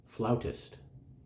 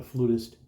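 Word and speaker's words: flautist: Mr Galway he is a floutist not a flutist not a flute player he is a flowerist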